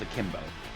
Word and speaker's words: akimbo: I'm gonna take Sun and Moon out and do chemo guns, and I'm gonna shoot up at the fish overlord. Okay. Roll me an attack. And it's pronounced akimbo.